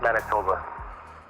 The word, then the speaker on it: Manitoba: for it um and it's in man it's pronounced Manitoba wow so you said uh you said you